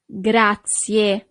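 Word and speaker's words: grazie: Gracia. So you really need to pronounce the last letter E in English, but the letter E in Italian is E.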